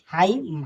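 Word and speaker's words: hymn: हाइम, हाइम, यहाँ एन क्या है साइलेंट है, यस वाई एम ही से हाइम पढ़ेंगे, यहाँ क्या है एन साइलेंट है।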